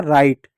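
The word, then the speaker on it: write: और डब्लू आर में हमेशा जो आपका जो डब्लू होता है बच्चों, वो आपका हमेशा साइलेंट होता है, इस बात को याद रखिएगा। तो यहाँ पर दो चीज आपका साइलेंट हो गया, डब्लू साइलेंट हो गया, ई हो गया राइट पढ़ेंगे।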